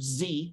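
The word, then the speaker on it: Xie: His name is Richard Zee. It's spelled X-I-E.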